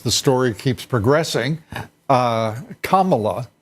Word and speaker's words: Kamala: story keeps progressing uh Kamala I I'm told is the correct pronunciation for Senator Harris uh and Diane Fein